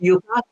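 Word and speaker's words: yuca: what Yuka is oh yaka yeah yeah yeah yeah exactly that's what I was gonna ask you is that what it was yeah well it's pronounced Yuka you know oh I'm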